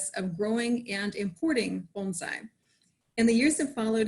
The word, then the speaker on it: bonsai: y'all are familiar with bonsai but and it's pronounced bonsai you can you can say bonsai but technically it's bonsai and uh you know bonai isn't from asia